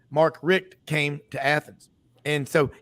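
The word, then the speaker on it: Richt: Georgia it all changed when as some people pronounced it markk Richa Mark Rick came to Athens and so yeah they've got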